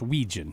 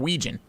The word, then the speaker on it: Wetjen: W-E-T-J-E-N. Weetjen. It's pronounced wet. Is he Norwegian? Phonetically, it's Wetjen, but it's Weejan.